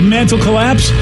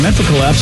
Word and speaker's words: Mantle Collapse: It's our loud and local band of the week, Mantle Collapse. Hey, I think I just got that. Instead of like mental collapse, it's mantle collapse.